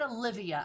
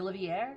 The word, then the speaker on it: Olivier: from fullmetal alchemist because is it olivier is that how you say her name it's not olivia i know it's not that it's like olivier or something like that you know what i'm